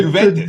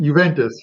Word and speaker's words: Juventus: Malmo and Juventus, right? Am I even pronouncing that right? Yeah, no, Juventus. The J is silent. Juventus.